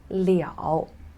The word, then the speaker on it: 了: on to it so here this character is pronounced as leo so this kind of liao is completely enormously different from all of the